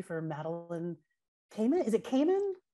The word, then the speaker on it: Kamman: Is it Kamen? Kamen? Yeah, you know, I've heard different pronunciations, but the way that she said it on her TV show was Kamen.